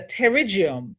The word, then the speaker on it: pterygium: to pronounce the words it is a pterygium the p is silent so whenever you're pronouncing